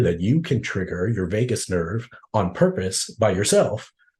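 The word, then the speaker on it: Vagus: of your major organs it's called the Vegas nerve pronounced like Las Vegas spelled a little bit differently that nerve has a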